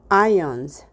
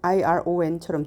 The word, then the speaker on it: ion: ions, 이온. atoms with positive or negative charges, 양전하 또는 음전하를 가진 원자. 잘못하면 발음이 iron, 다림질하다 또는 철, ion, iron처럼 들리겠어요?